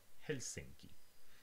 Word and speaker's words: Helsinki: uh to the last just languages were the uh stress falls on the first syllable for example in finnish we have helsinki now the first one